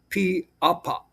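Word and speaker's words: pīʻāpā: an okina that separates the I and the A for apa. And then you have a kahako above the first A and the P, and then a kahako above the second A. So that's pronounced as piapa, piapa, piapa.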